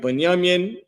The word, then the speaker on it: Benjamin: Uh, their name is Banyamian. Banyaminian. That's how you say their name in Hebrew. This is the Hebrew uh form for it. The second one right here, right? Banyamin.